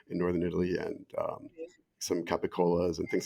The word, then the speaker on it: capicola: northern Italy, and some capicolas and things like that, which of course will then sopranoize back to their Italian American Neapolitan pronunciations of gabagool and gabacola.